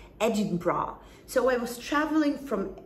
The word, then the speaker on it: Edinburgh: the capital of scotland listen to my pronunciation edinburgh so i was traveling